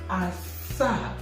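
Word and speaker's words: asaa: Okay, then 7 is pronounced Asa.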